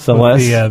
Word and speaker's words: Celes: Cloven64 mentions Celis from Final Fantasy VI, and he's not sure, is it Celis or Celis? I always said Celis. I always said Celeste. Celeste. The accent on the second syllable.